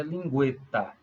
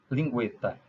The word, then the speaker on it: lingueta: Guetta ou lingueta hum a pronúncia é lingueta lingueta hoje não tem o tema mas antes de 2009 quando escrevíamos a palavra lingueta nos colocávamos o tema sobre o para indicar pronúncia Duo Duo símbolos Killer